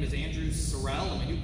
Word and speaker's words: Sorrell: statement all right well the name is andrew sorelle and we do pronounce it sorrell sorrel is a red horse but my grandfather was a preacher in detroit and the yankees pronounced it sorel and he couldn't get away from it so